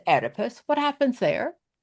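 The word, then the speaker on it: Oedipus: It starts with an O, but it's pronounced edipus.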